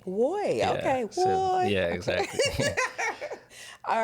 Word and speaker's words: WOI: on it app well you can pronounce it as Wy Wy okay yeah exactly all